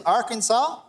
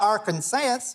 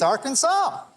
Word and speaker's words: Arkansas: The correct pronunciation is Arkansas, not Arkansas or Arkansas or Arkan anything. It's Arkansas.